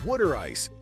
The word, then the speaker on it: water ice: You'll also want to grab a soft pretzel, best when fresh from a street vendor, and a water ice, pronounced wooder ice, a sweet frozen treat that'll cool you off in the sticky summer heat.